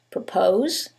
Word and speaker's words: propose: However, in the first one, it's the second syllable that's stressed. And in the second one, it's the first syllable, and that changes the pronunciation completely. The first word is propose and the second word is purpose.